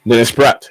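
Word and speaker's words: Praet: this is pronounced but I presume it's Dennis PR yeah Dennis brat yeah that's the name Dennis brat you got it right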